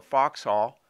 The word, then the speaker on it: Vauxhall: fitted for crimone or foxhall as they used to pronounce vauxhall then for fox hunting